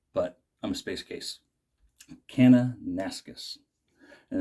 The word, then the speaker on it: Kananaskis: And I'll say it right this time. Kananaskis. I pronounced it wrong in my video, and I knew better, but I'm a space case. Kananaskis.